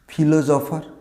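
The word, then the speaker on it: philosopher: এটাও একটা পেশা, দার্শনিক, ফিলোসফার। আমরা এটাকে ফিলোসফার বলি অনেক ক্ষেত্রে, না ফিলোসফার না, এর সঠিক উচ্চারণটা হবে ফিলোসফার, শেষে আরটা সাইলেন্ট থাকবে এবং উচ্চারণ হবে ফিলোসফার।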